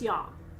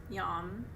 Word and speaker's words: yam: for you or not the heart chakra mantra looks like the word yam y-a-m but it's not it's yam so i'm going to